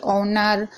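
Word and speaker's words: honour: bubbles बोलते हैं अगर एच के बाद कोई भी बबल्स हो यानी मात्रा हो तो एच साइलेंट रहता है यानी कि एच है उसके बाद कोई भी मात्रा है जैसे कि ए आई ओ यू तो एच साइलेंट रहेगा यहां पर आप पढ़ लीजिए ओनर ऑनेस्ट अंबल यहां पर सभी में यहां पर एच का कहीं भी जिक्र नहीं हुआ है कहीं भी एच को नहीं पढ़ा गया है क्यों क्योंकि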